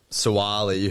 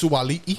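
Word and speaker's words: Sua'ali'i: So I've gone Suwali, who's like in the greatest form at the moment. He's a It's freak. pronounced Suwali'i.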